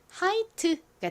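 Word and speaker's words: Hite: 가장 앞에 H는 히 소리 나고요. 그리고이 단어의 모음이 I와 E 두 개 있죠. 끝 모음이 2이니까 첫 번째 모음은 보통 장모음 소리로 소리가 납니다. I의 장모음 소리는 알파벳 이름과 똑같은 아이죠. 그래서 하이가 됐고요. t는 t의 소리 트 소리가 나죠. 끝에 e는 헛깨비로 소리가 나지 않으니까 읽어 보면 하이트가 됩니다.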